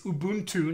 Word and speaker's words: Ubuntu: have a point where it's Ubuntu not Obon - yeah piss off